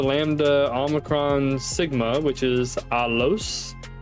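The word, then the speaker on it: ἄλλος: it's Alpha Lambda Lambda alicron Sigma which is alos alos and this means another boom right there another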